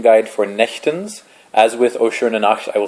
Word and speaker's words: Nächtens: this is the pronouncing guide for nechtens as with osher i will say each line